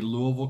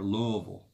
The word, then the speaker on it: Louisville: Kevin is from Louisville that's how they say it there Louisville and he wants to